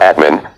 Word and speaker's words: Atman: Spirituality calls that something God, or Atman, pronounced Atma.